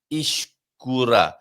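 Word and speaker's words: escura: So in this instance, Ishkura. Ishkura. A soft E. When you say Ishkura, you're pronouncing it almost like you would an I.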